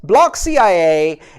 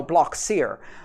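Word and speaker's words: Blockseer: that point anonymous says block cia is going to censor transactions did i pronounce that correctly block cia sorry no block seer block seer is going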